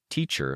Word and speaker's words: teacher: beneath us she said she pronounced teacher like t-shirt with a silent t at the end and a little like